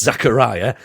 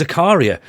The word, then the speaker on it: Zakaria: name wrong last week he's not called Dennis Zachariah uh apparently it's called Uh Dennis Zakaria so I went with